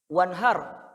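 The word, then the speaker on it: وَانْحَرْ: Wanhar, ro-nya tebal atau tipis? Kenapa? Karena ro-nya sukun, sebelumnya fathah. Wanhar ro sukun, sebelumnya fathah. Jadi dibacanya wanhar, wanhar, wanhar, har, har, Pak. Har, wanhar, har. Jadi lidahnya agak naik ke atas.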